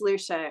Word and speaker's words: Lucia: It's pronounced Lucia, or it rhymes with fuchsia, which I guess is the color I'm wearing right now.